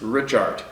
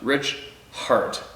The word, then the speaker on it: Richart: Pronounced Richart. Rich Hart. Rich Hart, thank you very much, my man.